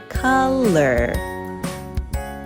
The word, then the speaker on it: color: The O is not making its normal sound, it's making the short U sound, in words like onion, Monday, mother, love. So that first O is making the sound. In the second syllable, O-U-R together is making the sound. When you put it together, we say color.